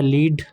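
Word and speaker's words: lead: एक होता है लीड to guide she will लीड the team ठीक है और एक होता है लेड the metal the pipe is made of लेड है ना इसके बाद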